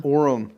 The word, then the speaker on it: Orem: in Utah last name that actually sounds like aurum sounds like the name of like a utahn Oren Oren hatch yeah but it's room Orum well that's that's how you say it with Utah accent okay uh Rossi is